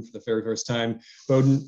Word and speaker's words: Bowdoin: hearing the the word bowdoin for the very first time bowdoin rhymes with exploding we've all had to